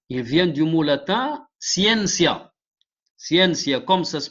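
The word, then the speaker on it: scientia: du mot latin il vient du mot latin siencia siencia comme ça se prononce c'està-dire euh le mot c'estàd que vous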